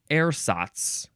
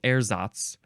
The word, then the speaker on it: ersatz: Next is ersatz or ersatz, still emphasizing the first syllable, ersatz. Or you can emphasize the second syllable, ersatz, ersatz, or just ersatz, ersatz, ersatz.